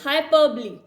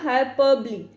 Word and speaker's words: hyperbole: Next one इज हाइपरबली। ठीक है, इसको आपने प्रोनाउंस कैसे करना, हाइपरबली। ये जो है ली की साउंड जो है वो देगा।